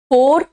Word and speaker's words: far: मैं 3-4 वर्ड को बताती हूं आपको, FOR एंड FAR प्रोनाउंसिएशन अलग है। फोर, फॉर एंड फार, फोर, फॉर, फोर, फॉर एंड फार, ठीक है।